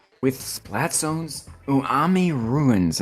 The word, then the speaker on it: Umami: And I'm always gonna say that wrong. I swear. Maybe I said it right. Umami. Umami. Yes, umami. I forgot the M, guys. There's 2 M's. Yes, it's 2 M's. It's not 1. It's 2. The more you know.